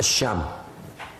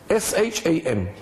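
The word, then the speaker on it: شام: of Islam h m s h a m academic transliteration it's a long a sham and this is how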